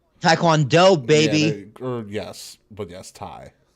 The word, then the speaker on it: Taekwondo: gave you the taiquan it is pronounced like Thai so it's not to it's Thai tai kwon Taekwondo baby yes but yes